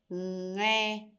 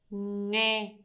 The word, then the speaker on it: nghe: You have the ng sound at the end. And this one is going to be ngô, nghe, ngô, nghe.